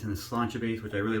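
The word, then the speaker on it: Sláinte: I call it Slantic because that's how it phonetically reads. But it's Irish, it's pronounced Slantia.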